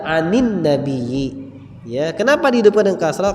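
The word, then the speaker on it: عن النبي: Karena sukun ketemu sukun, iltiqa'us sakinaini dalam bahasa Arabnya, bertemunya dua sukun, maka dihidupkan dengan salah satunya dihidupkan dengan kasrah. Maka dibaca anin nabiyyi.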